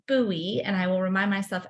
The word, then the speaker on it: Bowie: forever pronounced it as Bowie and I have been corrected many many times um but it is pronounced buoy and I will remind